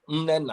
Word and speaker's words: Mnena: Mnena. Mnena. But I will Mnena. You have to Okay. hold the M a bit, like humi, like Mnena.